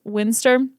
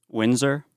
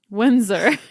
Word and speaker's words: Windsor: do you say it Windsor Windsor I don't even know what you were trying to say you're like Haley English Windstorm it's hard because there's a d but you don't pronounce the d that is hard it's